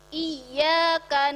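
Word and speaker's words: إِيَّاكَ: Nah, ya bertasdid ini bacanya harus ditekan. Kalau kita membacanya iya, ada yang kurang hurufnya 1 karena dia tasdid. Yang benar iya ditekan.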